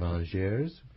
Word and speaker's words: Angers: Hulsmann is a professor of economics at the University of Angers in France. Did I pronounce that correctly? Angers. Yes, well, yeah.